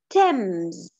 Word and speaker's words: Thames: together the new lesson a trip on the thames i know that's not how you write it but that's how you say it a trip on the